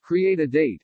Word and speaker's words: CRE8AD8: CRE8AD8, pronounced Create a Date, a San Antonio firm